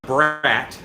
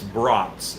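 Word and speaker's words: brats: it is it's not brat it's not Bratz it's BRS it's the long a br uh almost like a b r o u t BR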